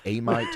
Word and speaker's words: Amite: that, and how do you what did it pronounce do? I didn't. Amite? I didn't think it'd die Amite, fast.